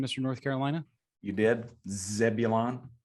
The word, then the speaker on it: Zebulon: Zebulon okay Timber right did I nail that pronunciation Mr North Carolina you did Zebulon not a boy Wisconsin Timber Rattlers hey them